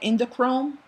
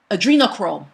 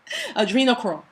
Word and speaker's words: adrenochrome: they love that they call it endochrome. Forgive me if I pronounce it incorrectly, but when the person is frightened, is that flight or fright hormone that is released into the blood. Adrenochrome, that's what it's called.